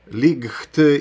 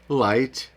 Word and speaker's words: light: Якщо GH стоїть після голосної літери, вона взагалі не вимовляється взагалі. Забудьте, що вона там є. перескакуйте через ці дві букви GH разом. Тому ви будете читати high, light, thought, through, align і